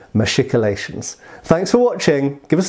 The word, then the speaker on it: machicolations: going to agree that we should be saying machicolations thanks for watching give us a like and